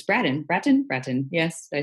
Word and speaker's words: Bratton: It's Bratton.